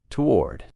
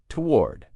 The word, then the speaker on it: toward: Now in American English, most people pronounce this as one syllable. Toward. It's almost like that first O doesn't exist. toward. It's like a tw sound at the beginning. Toward.